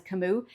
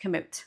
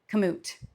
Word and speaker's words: Kamut: that I usually refer to this grain as cimu and that's because years ago I could have